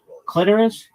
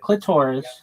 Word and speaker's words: clitoris: clitoris, not clitoris. It doesn't rhyme with the sorus. It rhymes with almost like icorus clitoris and um listen and menstruation.